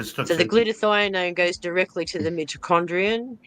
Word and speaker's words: glutathione: Get some glutathione.